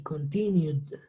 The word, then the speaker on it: continued: Todas las palabras que terminen en un sonido de vocal, vamos a pronunciarlas con D, como nos señala acá. Entonces, followed, no followed, no followed, enjoyed, played, tried y continued.